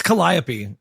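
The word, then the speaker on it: calliope: Caliop. How do you say that? It's Colliapy.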